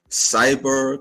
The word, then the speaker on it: Xyber: This is KLA Cloud the Wanderer and what you see was the introduction of my guest illustrations of cyber comics. if I'm pronouncing that right.